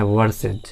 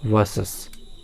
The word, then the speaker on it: versus: सबसे पहले वी, जो कि वर्सेस, VERSUS, वर्सेस, जिसे लोग प्रायः गलत रूप में उच्चारण करते हैं वर्सेज, तो वर्सेस बोलते हैं, जो कि गलत उच्चारण है। इसका सही उच्चारण है वर्सेस।